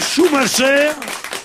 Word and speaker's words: Schumacher: Moi, je dis Schumacher, parce que malgré l'occupation, je prononce à la française, messieurs. Schumacher.